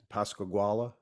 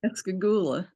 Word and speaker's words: Pascagoula: I know, Irene, you've written a recent book on the subject, Pascagoula abduction. Pascagoula. Okay, I didn't know how to pronounce it, but Ghoul.